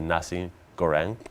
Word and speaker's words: nasi goreng: get the recipe from the waiter also the nasi goreng am i pronouncing that right yes yes that was absolutely